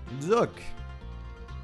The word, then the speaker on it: Jacques: Früher habe ich den Jacques ausgesprochen, weil so, ich habe immer so Marquez im Kopf gehabt, aber das ist Spanisch. In dem Fall wäre es jetzt, glaube ich, eher Französisch, so wie Frère Jacques.